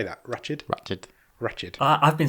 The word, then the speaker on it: Ratched: Ratched. I've been saying Ratchet my entire life until that program was released.